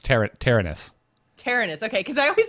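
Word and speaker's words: Terenas: Yeah, it's Tyrannus.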